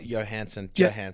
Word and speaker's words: Johansson: Yeah, of course, and Johannesson. Scarlett Johansson. Johansson. Yeah. I think you pronounced the J there.